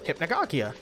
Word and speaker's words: Hypnagogia: My name, is derived from the game's title, Hypnagogia, and you pronounce it Hypnagogia. Ah, Hypnagogia?